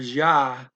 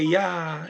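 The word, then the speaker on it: já: means ja already um the spanish word ja you can't say yeah you gotta say ja it's it's but you don't say ja either not a hard press j you can't say ja it's it's a little bit above a y but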